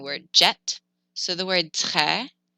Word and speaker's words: très: So the word très, it's an open E, très. A lot of people think that it's pronounced très, and they say, oh, très bien. That's not right. It's more open. It's très, très.